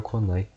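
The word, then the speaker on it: 来ない: kunai aqui de novo, então mudaram e colocaram konai, pra ter uma diferença de nuance e pronúncia.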